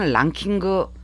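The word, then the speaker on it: ランキング: 영어 랭킹에 가타카나 표기는 랑킹그, 뭐 JLPT 시험에서는 안 나오는 단어긴 하지만 뭐 TV를 봐도 음악 순위 나오잖아요. 뭐 다른 데에서도 많이 나오죠. 그것을 랑킹그라고 발음한다는 거. 이렇게 ing가 나오면 그로 끝난다는 걸 기억을 해주시기 바랍니다.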